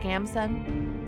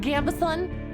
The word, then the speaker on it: gambeson: iron ax a worn gambeson and a healing potion or I want to learn more about the three classes you've heard pronounced gambeson okay that's what I'm leaning towards so that's well pronounced